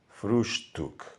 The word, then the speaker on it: Frühstück: término almuerzo, sino que lo dice en alemán, Frühstück, acentuando especialmente la sílaba früh.